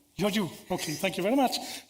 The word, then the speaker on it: Georgiou: Do I pronounce this right? Georgiou, okay, thank you very much.